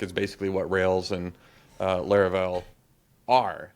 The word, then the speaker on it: Laravel: And it's maybe better to talk about Laravel on rails as like a different word, like batteries included or some other term that is more than full stack.